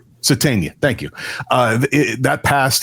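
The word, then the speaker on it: Sategna: Uh Sadena, Sadena, how do you say? Satena, thank you.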